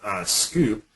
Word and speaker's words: Sqoop: And then lastly, we have Scoop. Even though it's SQOOP, it's pronounced Scoop.